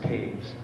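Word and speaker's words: Toews: ago Tuesday evening the man is denn Dennis Taves it's uh spelled t o e WS but it's pronounced Taves t a v s at the present time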